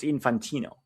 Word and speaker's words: Infantino: It's pronounced infantino.